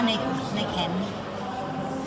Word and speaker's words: Neycken: Alors, Johan Manca, con una discendenza italiana, e Neken. Comme J'ai des correctement Sedens.